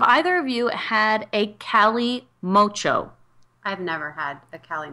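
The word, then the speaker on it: kalimotxo: Well, so in the 1970s, Basque culture, this is a classic cocktail called Cali Mocho. It's spelled with a K, K-A-L-I-M-O-T-X-O.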